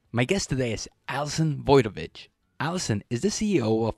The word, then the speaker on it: Wojtowecz: Super excited to be here on the show with my friend, Allison Wojtowecz. That was perfect pronunciation. Allison Wojtowecz.